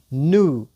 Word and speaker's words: new: دوستانو اکثر دغه نو اکثر دوستان نیو تلفظ کوي. نیو نه د دوستانو. دوستان عزیز اکثر دوستا می نیو تلفظ میکنن. اصلا نیو نیستک، نو استک. نو نو.